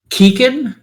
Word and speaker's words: Keaquen: Keegan, spelled Keaquen. Spell that again? Keaquen. What kind of monster doesn't put a U after the Q? So He doesn't want the qua sound. He wants the Hashtag kuh fantasy sound.